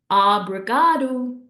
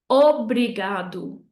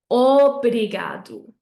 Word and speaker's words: obrigado: So you're either going to say something like obrigado, okay, with an ah sound at the beginning, but I don't want to hear that. I want a nice round o, obrigado, obrigado, okay?